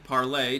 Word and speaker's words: Parler: all right everyone parlor is back online parlay technically but they they changed the pronunciation because nobody understood that it was meant to be like like the french word for for speak i believe uh uh